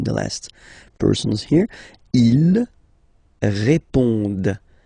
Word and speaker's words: répondent: Ils répondent. So same thing, here classic ending, ENT, but then you don't pronounce it.